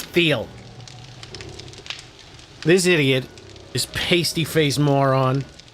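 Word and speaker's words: Thiel: Peter Theal. He has a th in the beginning of his name, but he wants you to pronounce it teal. No, it's Theel.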